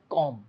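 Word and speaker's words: comb: एंड कॉम my hair ये जो word है सी ओ एम बी इसकी जो करेक्ट प्रोनंसिएशन है वो है कॉम कॉम नहीं है कॉम है क्या है कॉम इसमें जो ये बी है ये साइलेंट है तो आप सिर्फ बोलेंगे कॉम तो अगर आपको बोलना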